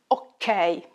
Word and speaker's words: okay: We use the word ok a lot in Italian, pronounced ok.